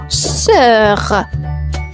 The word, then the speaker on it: sœur: On enchaîne avec le mot sœur. Sœur. Une sœur. Et la sœur s'écrit comme suite S-O-E-U-R. La particularité, le O et le E vont fusionner ensemble comme cœur, sœur.